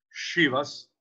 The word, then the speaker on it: Chivas: Il Chivas, perché si pronuncia così, Chivas, il Chivas è un blended deluxe ed è un grande blend.